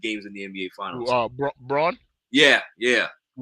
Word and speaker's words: Braun: in the NBA Finals Braun yeah yeah I think they was pronounced Brown or Bron or whatever it is yeah it's spelled brown but it's pronounced Bron something like that something like that and